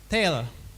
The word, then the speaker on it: tale: Itu penting ya storytelling tapi jangan tail. Beda tale. Tale bahasa Inggris ya. Apa beda storyting sama tale? Tale artinya apa? Bacanya tail.